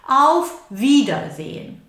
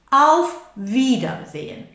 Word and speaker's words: Auf Wiedersehen: Auf Wiedersehen. Now, people coming from Spain will find that difficult, the two lips coming together. Auf wieder, wieder, wieder, wieder. Look at my lips are coming together. Auf Wiedersehen.